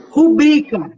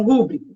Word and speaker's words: rubrica: Rubrica, e não rúbrica.